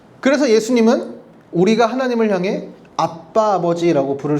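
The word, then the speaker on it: אבא: 아빠. 이게 그냥 진짜 우리말로 번역해서 아빠가 아니라 아람모 발음도 아빠예요.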